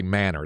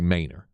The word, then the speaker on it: Manor: 99 out of 100 are going to say manor they're not going to say Mainer because it's just you know that's the uh